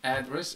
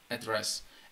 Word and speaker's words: address: Address is a noun, and you can see that the stress is on the first syllable, address. Address. While address, the stress is on the second syllable, and this is a verb.